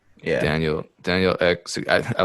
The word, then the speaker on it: Ek: I don't know how to pronounce his last name. Is it just Ek? Yeah. Daniel X.